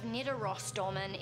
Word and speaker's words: Nidarosdomen: The cathedral of Nidarosdomen is situated in the Norwegian city of Trondheim. You actually said it right!